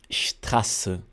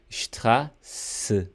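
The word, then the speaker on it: Straße: Strasse. Strasse. Ela vai soar como SS. Então aqui você, né, ao pronunciar, pensa que é SS, Strasse, Strasse.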